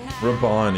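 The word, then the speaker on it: Raubahn: Raban, yeah, Raban.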